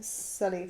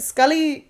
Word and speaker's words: Sully: about Easter eggs of stuffing other films but Scully gets Sully oh have I said it